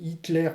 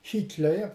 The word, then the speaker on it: Hitler: exemple si je j'écris Hitler pris le pouvoir en Allemagne ici je l'ai prononcé de manière francisée mais on peut concevoir le mot dans la langue originelle par exemple Hitler pris le pouvoir en